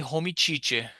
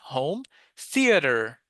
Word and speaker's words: home theater: Don't ever say homie chich. Yeah, there's always someone uh in my living room I have a homey chich home. Yeah, home theater. Home theater.